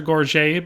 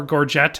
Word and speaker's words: gorget: I added in the Valyrian Soldier Gorget, because, or Gorget, however you want to pronounce it, because A, there wasn't